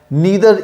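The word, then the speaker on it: neither: Zero even number है या odd number है या नीदर इवन नॉर ऑड, आप चाहें तो उसको नाइदर इवन नॉर ऑड भी प्रोनाउंस कर सकते हैं।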